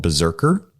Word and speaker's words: BZRKR: was a comic created by keanu reeves called berserker and it's spelled if you want to check it out